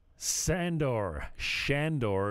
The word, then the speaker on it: Shandor: Shandor is the correct pronunciation.